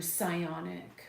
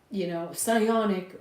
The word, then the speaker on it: psionic: So, psionic almost puts a more sciencey ring to it. It rhymes with ions.